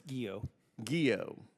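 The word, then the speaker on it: Guillot: Southern command General Gregory gillo how do you pronounce that chairman it's guo guo thank you all right General General Gregory guo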